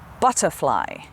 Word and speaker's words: butterfly: listen butterfly butterfly butterfly so the ba the b u the uh sound at the beginning is stress that's the part we say strongly butterfly and the uh in the the end of the butter is unstressed so we don't say